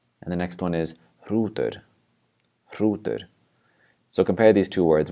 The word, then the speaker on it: hrútur: And the next one is hrútur.